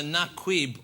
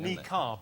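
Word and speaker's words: niqab: we think it's either Naquib or Nakid. is something like that. It's like a nib or something. Nikar is how it's pronounced. That's the correct answer. Nikk is not the right answer.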